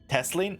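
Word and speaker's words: Tesleen: board our victories to teslan shall we testling teslan teslin wait have i been saying her name wrong teslan i'm gonna it's testlin outside tells me you helped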